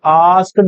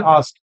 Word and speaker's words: asked: कुछ बच्चे आस्क्ड बोलते हैं, नहीं, लास्ट का डी प्रोनाउंस ना करिए, बस बोलिए द चिल्ड्रन आस्क्ड।